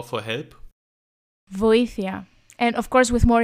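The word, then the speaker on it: βοήθεια: Voήθia. And of course with more emotion, like voήθia. Okay, it sounds Sorry. more pragmatic indeed, yeah. But the word is like voήθia.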